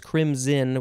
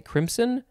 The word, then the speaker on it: crimson: And it does say that the pronunciation is crimson with a Z sound, but I guess you could maybe also say crimson. But that sounds a little bit weird.